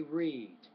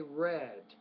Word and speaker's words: read: word now that's interesting now when it's present tense say read when it's past tense say read right so in this case